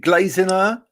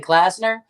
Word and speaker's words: Glazener: Is it Glazener or Glazener? So it's great. Glazener? The way Glazener. it's described to me by my husband, it was Glaze Nerd without the D.